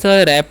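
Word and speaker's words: wrap: समझेगा अच्छे तरीके से डब्लू आर ए पी है तो यहां पर डब्लू साइलेंट होता है आर एपी रैप पढ़ते हैं इसे क्या पढ़ते हैं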